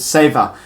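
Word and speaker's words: Sewa: anyway word number four is called savor but look it's spelt with a W and anyway so that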